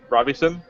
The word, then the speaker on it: Robison: constantly uh yeah actually my last name doesn't have an n in the middle oh so it's just Rob Robison Robison Robison okay yeah